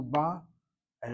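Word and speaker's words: באה: The feminine present tense is ba'a. The accent is on the second syllable. The past tense third person feminine singular is ba, with the accent on the first syllable.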